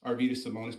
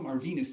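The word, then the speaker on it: Arvydas Sabonis: basketball you ain't watched arvus simonis play I know that because you can't even pronounce the man's name arenus you Mar Venus like 25 times bro I ever when did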